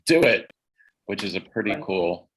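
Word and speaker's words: DoITT: the city's i.t department the acronym is pronounced do it which is a pretty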